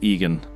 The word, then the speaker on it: Eogan: Sir Egan, Eogan, pronounced Egan.